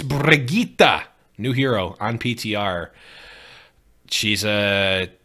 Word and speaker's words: Brigitte: So, and by the way, I say Brigitte. I'm not going to say Bridget.